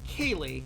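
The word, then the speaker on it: ceilidh: the porcelain Prancer there that is pronounced Kaylee Celtic is a weird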